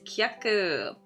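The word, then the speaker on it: 客: Also has only one pronunciation. The pronunciation is kaku.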